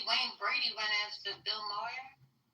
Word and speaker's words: Maher: I see Wayne Brady went after Bill Moyer. How do you say his name? Moyer? Saying that he's a racist. Bill Maher.